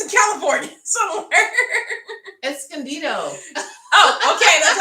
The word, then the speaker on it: Escondido: pronounce that escandio esclca it's in california somewhere escondido oh okay that's how you pronounce it yeah yeah yeah i know where